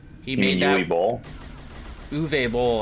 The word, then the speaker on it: Uwe Boll: Uwe Boll, I believe is how you say it. It's Uwe Boll. He's foreign. You don't. He's German. You don't pronounce it Uwe.